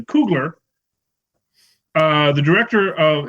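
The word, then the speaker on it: Coogler: just to give you an example I'm probably mispronouncing koogler the director of its Kugler right I've been director of yeah um you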